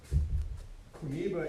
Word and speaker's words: Kuniba: Kuniba is the Japanese pronunciation of the kanji that make his name.